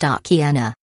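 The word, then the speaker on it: Akiane: 12 years old at the time of the CNN segment, Akien, pronounced Akiena, had begun having visions of heaven at the age of 4, the email said.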